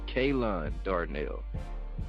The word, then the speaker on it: Ke'Lonn Darnell: Thank you for correcting kelonn-darnell.